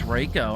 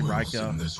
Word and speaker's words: Reiko: and uh Reiko today I can't believe it's Reiko I'm not even gonna I'm just gonna say Rika ryko's just cooler and riko's not real so he can't do anything about me mispronouncing his name he doesn't even exist